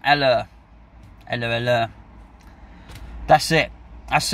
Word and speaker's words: Haller: as Jude pointed out there's no H what it is but we don't pronounce it sighs Sebastian eller and literally that's it